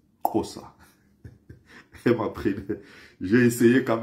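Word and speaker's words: Xhosa: J'ai d'ailleurs une amie sud-africaine qui m'apprenait récemment comment ils prononcent chez eux la langue comme ça, du côté droit comme ça, entre les dents. On dit Kossa. Kossa.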